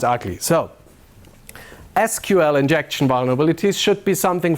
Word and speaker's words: SQL: or sequel or SQL so officially it's pronounced SQL not sequel we we look that